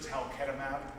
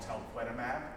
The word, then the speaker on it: talquetamab: The makers of talquetamab mispronounced their own drug, and they call it talquetamab, but that's too hard for me, so I've